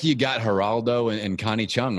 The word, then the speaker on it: Geraldo: I just got to make sure I maintain this beautiful, Geraldo. It's not Gerardo. Gerardo is Rico Suave. Geraldo is the Geraldo.